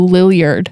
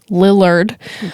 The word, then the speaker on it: Lillard: with me pronouncing things I have always said Matthew Lillard mm-hmm that's not correct I don't think cuz you you just checked yourself I did just check myself I Google how do you pronounce and I think it's Lillard I'm gonna call him talk